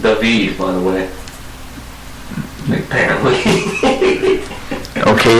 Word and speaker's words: David: Pronounced David, by the way.